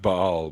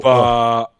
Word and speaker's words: Baal: It is pronounced Baal, by the way. It's not Baal. Yeah. That sounds identical to me, to my English ears. No, The sorry. little glottal. Baal.